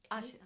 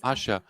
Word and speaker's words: Asia: Am I pronouncing Asia or Asia? Asia. Asha. It's Asha. Asha.